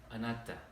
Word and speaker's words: anatta: The word anhata, is that how you pronounce it? Myself? Anatta.